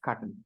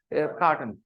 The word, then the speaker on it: carton: Cartoon in our language, cartoon. Okay, actually it's an English word, carton. It's pronounced carton. Okay, carton, carton. Okay, but carton became cartoon.